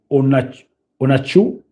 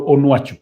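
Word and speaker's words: Onuachu: It was Paul Onachu, Onwachu, Paul Onwachu. Yes, I think that's the correct pronunciation of that name.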